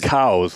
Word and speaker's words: Coues: It is cows, like COWS.